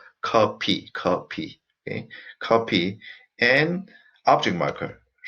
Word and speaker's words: 커피: So 제가, and coffee, as I said, we don't have F sound. So in Korean language, we pronounce as coffee.